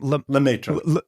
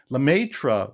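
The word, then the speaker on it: Lemaître: There was a guy and I can't pronounce his name. What's his name? Lemaitre.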